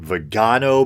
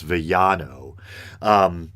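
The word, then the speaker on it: Viganò: Archbishop Carlo Maria, and I've heard people pronounce it Vigano, but I've also heard it pronounced Villano. So, either or.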